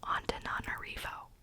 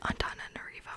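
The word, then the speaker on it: Antananarivo: My husband's cousin actually went there and I think he taught me how to like actually pronounce it. I think it was like antana narivo or something like that.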